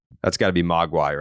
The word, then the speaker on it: Mogwai: Mogwai. That's got to be Mogwai, right?